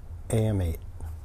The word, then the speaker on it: AM8: so this is a weird word some people pronounce it right it's am8 so if you just say am and8 am8